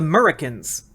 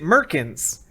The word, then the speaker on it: Murricans: live there still, and they're a community called the Murricans. But I, a fool, a buffoon that I am, pronounced it Merkins, and chat really wanted to get to know the etymology of Merkins.